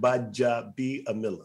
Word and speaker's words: Gbaja-Biamila: The G is silent. So, so if you take the D out, Gbaja-Biamila.